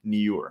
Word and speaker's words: Nyure: the natural beauty brand Nyure. So I made sure I hopefully pronouncing that right. So just like pure, pronounce it Nyure.